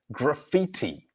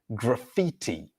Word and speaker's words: graffiti: Humera would like to know the pronunciation of graffiti. Graffiti. Graffiti. So the letter A at the beginning here is pronounced because the stressed syllable is on fee.